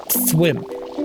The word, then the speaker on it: Thwimp: Thwimp, not wimp.